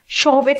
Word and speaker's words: Chvostek: So, you have the Trousseau sign, Chvostek sign. Let's look at these. I think this pronunciation is slightly different. C, if we say C is also included, Chvostek, Chvostek sign.